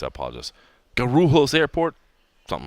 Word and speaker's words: Guarulhos: gun room host not you should not supposed to roll your R's in Portuguese I apologize Guarulhos Airport something like that